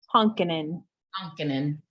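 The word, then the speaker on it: Honkanen: how do you say your last name Tiki honkin that's it cool thank you flow is getting my last name wrong they say novotoni and his name is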